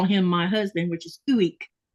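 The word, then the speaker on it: ueq: I never would have known how to say that just from seeing it spelled.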